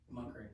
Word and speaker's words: McCrae: I, McCrae, correct spelling, correct pronunciation? McCrae.